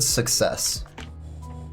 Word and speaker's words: success: Like, take the word success. What's in the middle of success? 2 C's. What does it sound like? A K, then an S. Suck sounds like a K, and cess sounds like an S.